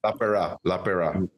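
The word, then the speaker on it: Lapeira: Paul LaPera? How do you say his name? LaPera.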